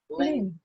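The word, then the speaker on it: 零: Ling is second tone. It's second tone. So the sound has to go up. Ling.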